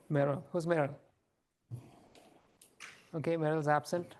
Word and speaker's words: Marill: I think it's pronounced Merrill. Meryl.